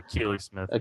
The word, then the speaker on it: Akili Smith: Is that how you pronounce that? Oh, Akili Smith.